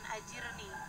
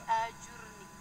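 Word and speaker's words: أجرني: Allahumma ajurni Fi musibati itu bacanya mesti bener bukan Hajir nih ya tapi ajur nih artinya Ya Allah berikanlah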